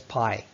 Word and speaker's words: Pi: The scene explains how he came to be known as Pai. His classmates deliberately mispronounce his name as Pissing.